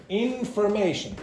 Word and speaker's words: information: Information. So, the secondary stress is on the first syllable here and the primary stress is on the third syllable.